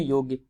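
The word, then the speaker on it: Jung: सो प्रसिद्ध विश्लेषी मनोवैज्ञानिक जिनका नाम है कार्ल युंग, जिसे यहाँ पर जे साइलेंट करके युंग लिखा है। सो कार्ल युंग एक मनोवैज्ञानिक है।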